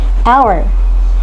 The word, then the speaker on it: hour: In another way around, there are some words that begin with consonants and produce vowel sounds like hour It begins with a consonant h but it uses a vowel sound "au" the hour next is heiress It